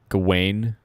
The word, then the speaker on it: Gawain: Oh, Yeah, Gawain. Gawain. Yep, that's how it's pronounced, I believe.